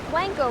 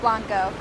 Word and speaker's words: Blanco: with families or friends say you want to go to the Blanco river not Blanco reporting for Bobcat update